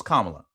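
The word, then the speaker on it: Kamala: Nobody can still to this day explain what Camala Harris act um Camala I'm hopefully I'm saying it right. Kamla No. No. It's Kamla.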